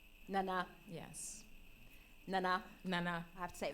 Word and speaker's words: Nana: But it's the correct pronunciation is Nana. Nana.